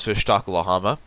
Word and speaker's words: Fishtakulahama: hello my name is fishtakulahama and before you ask that is the correct way to say my name now i don't have